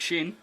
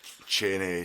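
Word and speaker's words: Cheyne: just a pain like chain and stuff like that? Well, yeah. Cheney Cheney all this stuff. How do you get Cheney for that? It's quite obviously Shane.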